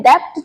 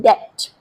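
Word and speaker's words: debt: यहां हमें डेप्थ नहीं बोलना। बी साइलेंट है। डेप्ट आपको बोलना है डेथ।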